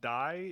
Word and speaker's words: Dai: Number 1, Dai is spelled D-A-I, so that's he's not saying die in that way.